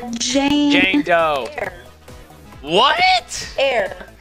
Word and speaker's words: Eyre: Air. Jane Air. E-Y-R-E. Jane Doe is so common. So it's Jane Eyre.